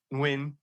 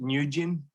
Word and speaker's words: Nguyen: on which his last name was of course win and so in the UK he would pronounce it nugin up until then eventually he was 26 and